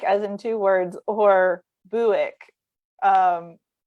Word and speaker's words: Bewick's: up, we always said Bewicks, but it's apparently this guy pronounced his name like the car company. So it's supposed to be Buick, like the car.